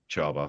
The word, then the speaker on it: Csaba: Toldy 1 or the CSABA 39M on a Chauba, I seven. believe. Charbar, thank you. On a 7 plus armor car. I'm not going to try and pronounce it after my horrific attempts in the